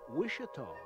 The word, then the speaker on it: Wichita: tools of its past originally the town name was pronounced wish at all with a wish not a witch the 1960s mayor said